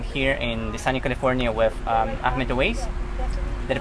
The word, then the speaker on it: Ahmed Awais: And today I'm here in Desani, California with Ahmed Awais. Did I pronounce it right?